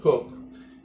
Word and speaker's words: Coke: and politician Sir Edmund Cook. You know, it's spelled Coke, but it's actually pronounced Cook.